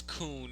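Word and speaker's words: Khun: sure right okay so I just checked it is kun there's how they pronounce it lease and which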